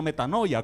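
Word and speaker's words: μετάνοια: hermano arrepentimiento viene de una palabra griega que se pronuncia metanoia que significa cambio de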